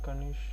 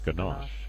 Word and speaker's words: Ganache: I also installed Kanshi. I don't know how it's spelled, but I think it's Kanshi. I don't know. Let me see how it's spelled. Ganache. Oh, it's Ganache.